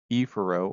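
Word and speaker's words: efferent: Afro, I'm going to just pronounce it with the long vowel, aphero, which means toward the center. Ephero or ephero refers to away from the center. Again, I'm just pronouncing the long vowels to make sure you understand the difference in the spelling.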